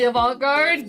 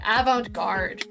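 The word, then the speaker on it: avant-garde: Why did I say it like that? Avantgard. There we go. I just listened to like three full months of my props saying avantgard and I still can't say it correctly.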